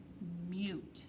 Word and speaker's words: mute: See how that silent E makes the U say its sound? M-U-T. Mute. Okay?